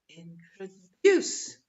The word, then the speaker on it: introduce: introduce introduce right okay so the stressed syllable is introduce one the third one introduce okay of the third syllable introduce and of course the